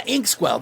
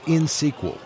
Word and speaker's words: Inxsql: Harry, it's insql. You don't pronounce the X.